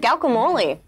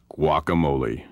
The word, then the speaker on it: guacamole: M this is great who made the terrific gal camole your girlfriend cannot correctly pronounce the word guacamole I don't think I've ever had the juming